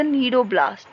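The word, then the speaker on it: cnidoblast: ठीक है, सी इज the silent, so these are called as द नीडोब्लास्ट।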